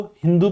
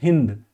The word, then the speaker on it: हिंदू: Further अगर मैं बात करूं हिंदुस्तान, तो जो पर्शिया है यानी कि आज का ईरान, जिसको फारस कहते थे पहले, वो लोग सिंधु को हिंदू प्रोनाउंस करते थे। वो लोग जो है सा को प्रोनाउंस नहीं करते थे, ठीक है ना, वो लोग सा की जगह पे हा कहते थे। तो यहाँ पर ये लोग सिंधु को हिंदू बोलते थे, और हिंदू नदी के